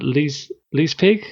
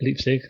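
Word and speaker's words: Leipzig: Then there's the uh le pig. Is that how you say it? Le somewhere in Germany. Can I guess it? Yeah. I can't know how you say it. That's it. Leapstick.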